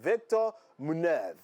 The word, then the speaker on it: Víctor Muñoz: And that was what happened actually in the case of this young man, Víctor Muñoz. So in the Spanish way, that's how his name is pronounced.